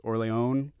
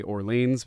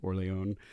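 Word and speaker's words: Orléans: is terraforming Mars um my favorite Euro game is orleon or as my kids say Orleans because they refuse to say it with the proper pronunciation so kids if you're listening my son would probably be annoyed at orleon um Star Wars rebellion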